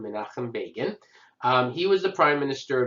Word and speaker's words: Begin: And it's pronounced Begin, not Begin. Menahem Begin.